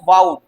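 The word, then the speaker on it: vowed: ठीक है, अब देखें, अ सिनोनिम ऑफ वाउड, इसे क्या बोलेंगे मेरे प्यारे बच्चों, इसका प्रोनाउंसिएशन सही करेंगे, वाउड।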